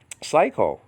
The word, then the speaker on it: Psycho: Psycho, that masterpiece by Alfred Hitchcock, right? That, I mean, you don't pronounce the P, and you don't pronounce the P in the word, okay, all right, Psalms.